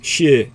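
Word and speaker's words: 四: But 4 is shi. It rhymes with death, both languages.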